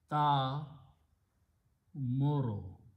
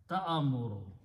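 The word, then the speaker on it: تأمر: This word is ta muru. Quran has this word. Ta amuru. There's a difference in we we say simply ta amuru. Ta amuru is the wrong to say. You have to combine this ta with the hamza and say ta. Don't pronounce alif.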